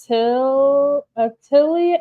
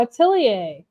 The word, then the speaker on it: Atelier: With the accent, maybe more Atelier. Oh, Atelier. Atelier? Is that how you say it?